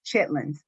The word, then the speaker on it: chitterlings: translate real quick. Chitlins. It's spelled Chitterlings, otherwise known as chitlins.